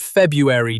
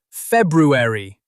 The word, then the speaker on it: February: "Not February, dummy. February."